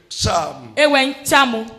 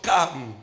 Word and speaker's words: Cham: Il s'agissait de Cham. Dans d'autres prononciations, Cam.